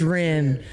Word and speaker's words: Rean: says in there um some people have uh trouble pronouncing my name and and then the guys will go it's Ren and I'm like we